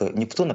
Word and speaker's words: Нептуна: Уверен, как Нептуна, правильно, наверное, да, делать ударение, как уверен нашим многим зрителям.